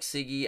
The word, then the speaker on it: Siggy: Yes, my name is Siggy, pronounced like Siggy as in cigarette butt.